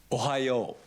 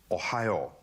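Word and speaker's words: おはよう: How do I pronounce good morning? Ohayo. Ohayo.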